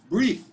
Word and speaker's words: breathe: take my breath away breath is a noun okay we pronounce breath but the verb is breathe okay so breathe deeply